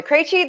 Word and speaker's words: Krejci: So, Martha Krejci, that is how you pronounce all of those consonants really close together.